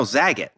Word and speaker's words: Zagat: No, Zagat. Like Bob Saget. Zagat.